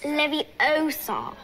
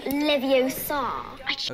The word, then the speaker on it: Leviosa: someone's eye out besides you're saying it wrong it's leviosa not leviosa okay so these are